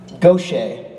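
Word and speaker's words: Gauthier: now backstage you can pronounce his last name ten different ways and I I was pronouncing the French Gucci what she said I can do if I want to be fancy then the powers that be said it was go Shay and I still don't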